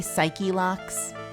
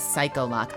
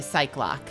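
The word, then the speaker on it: Psyche-Lock: remaining I love that he says it wrong have you noticed that so Phoenix says cycl loocks or you could say psych loocks which probably makes more sense I say psych loocks and he's mispronouncing it as psychol loock I think I think I'm 99% sure it's normally cycloc right I'm not out of my mind am I yeah it's usually cycl loock or psych loock he's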